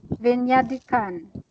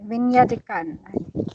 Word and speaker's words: Về nhà đi con: Vinyadikan. Like that. Yes. Yes. Sounds like That's right. French. It- to me, it sounds like a French word. Vinyadikan.